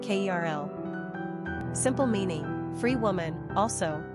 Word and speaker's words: Carol: Pronunciation, Kerl.